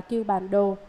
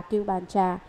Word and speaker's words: Cưu Bàn Đồ: Đúng ra những chữ này phải đọc là Cưu Bàn Đồ, nhưng hiện nay những người tụng chú đều đọc là Cưu Bàn Trà.